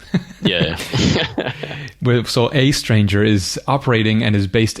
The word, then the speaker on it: aeStranger: a stranger it's just a stranger it's just that that's sort of letter combination so as a stranger it's just an interesting look for for the a and e yeah with so a stranger is operating and is